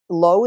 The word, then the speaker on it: Loh: to do um Kelvin Moon low and um low is spelled l so if you look him up